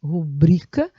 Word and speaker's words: rubrica: a sílaba tônica e a sílaba tônica de rubrica é bri rubrica e de xerox xerox xerox tá bom essa é a pronúncia correta sigamos então com o